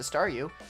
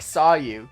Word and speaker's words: Staryu: Starmie was just a Staryu, I could never pronounce its name right. I always ended up sounding like saw you.